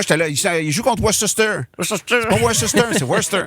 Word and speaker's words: Worcester: Ça s'écrit Worcester, mettons, mais ça se prononce Worcester. OK. Je sais pas Nice. ça, mais il y a une syllabe de trop qui est constant.